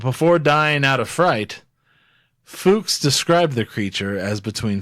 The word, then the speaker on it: Fuchs: was Hans Hans Fuchs yes food and spelled fu CHS and it's definitely pronounced Fuchs Fuchs don't even johan gives no Fuchs Hans